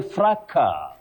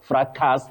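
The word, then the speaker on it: fracas: You say fra tricky. It would be surprising very many people that the s in this word the third word the s is silent. You say fra. Not fraas.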